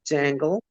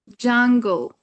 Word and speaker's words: jungle: to jangle. Jungle. Jungle with a a sound.